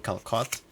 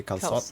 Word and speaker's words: calçot: Apparently that way just to signify that you pronounce the C soft instead of hard. So instead of saying calcot, you'd say calçot Calçot.